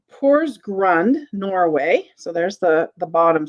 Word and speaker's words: Porsgrund: The next thing I have is I have a Pors, I want to make sure I pronounce this right. Porsgrund, Norway.